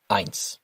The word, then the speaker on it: ein: The best way to think of it is to think of the word Einstein and take off the time, leaving you with Ein.